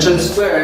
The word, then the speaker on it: transfer: on each syllable word so in the first word transfer the primary stress is in the first syllable and the secondary stress of course is in the second one now how about the